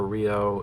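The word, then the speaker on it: Ryo: But I like to call him Yo because that is what it's that's how it's pronounced in Japanese.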